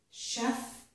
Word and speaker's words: chef: And it makes sh in the word chef, and also in the word machine.